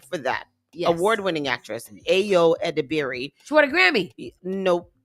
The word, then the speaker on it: Ayo Edebiri: Ayo Edebiri.